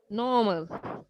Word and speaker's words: normal: pronounce this normal normal don't don't don't try to pronounce the r normal normal okay the best way